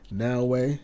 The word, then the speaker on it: Naoe: Naoe, that's how you pronounce it.